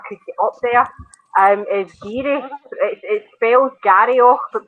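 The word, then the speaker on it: Garioch: follow if I could get up there, is Geary. It spells Garryoch but pronounced Geary.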